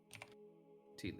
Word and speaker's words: Teelin: Teelin. Rhymes with Keelan, look out.